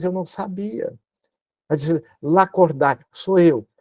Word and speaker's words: Lacordaire: não sabia mas disse L cordar sou eu ó seu nome escreve da cordar pronuncia la corder eu disse como assim